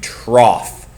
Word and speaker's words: trough: Trough. It's called a trough. It's spelled funny, but it's called a trough.